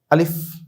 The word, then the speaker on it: আলিফ: এই দুটো অক্ষর আমরা যখনই দেখব তখন আমরা ইজিভাবে একেবারে সহজে তাড়াতাড়ি উচ্চারণ করব। আলিফ আলিফ আলিফ আলিফ এভাবে এটাও আমরা তাড়াতাড়ি পড়বো। হামজা হামজা হামজা হামজা। এভাবে আমরা তাড়াতাড়ি করে পড়বো।